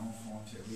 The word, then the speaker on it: enfant terrible: And I, being, you know, trying to be an enfant terrible, is that how you pronounce it?